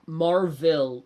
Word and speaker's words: Marville: or No, Marville, like is spelled like a townville. MAR-VILLE.